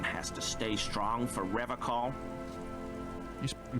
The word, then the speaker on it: Revachol: But someone has to stay strong for Revachol. You pronounced it wrong. He pronounces Revachol with a hard K, unlike other people.